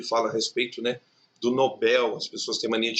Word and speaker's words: Nobel: a respeito, né, do Nobel. As pessoas têm mania de chamar de Nobel. É errado, o prêmio não é Nobel, o prêmio é Nobel. E novel, né, que no caso também é uma oxítona.